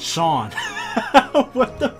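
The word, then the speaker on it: Seam: have anything better to do the name seemed pronounced Shawn that's hilarious and this is my little shop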